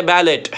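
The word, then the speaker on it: ballet: है दूसरे वर्ड में, इसमें हमको बैलेट नहीं पढ़ना है बल्कि उसको हम ई टी को प्रोनाउंस करेंगे ए में। क्या बोलेंगे? ए ए। सब पढ़ेंगे बैले बैले बैले। साउंड कैसा निकलेगा? ए।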